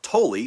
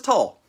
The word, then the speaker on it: Tolle: now and i only recently learned that it's pronounced totally because the guy said his own name in a youtube video i always thought it was tall um eckhart tolle the power of now so